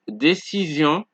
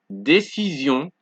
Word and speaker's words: décision: And because that vowel is there, the sion is no longer sion but zion, because now the S is between two vowels. You guys see that? So we have décision, vision, télévision, division, précision, transfusion, occasion.